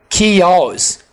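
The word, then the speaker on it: chaos: ऑन द एज ऑफ कियोस कियोस चज नहीं बोलना कियोस before hand पहले से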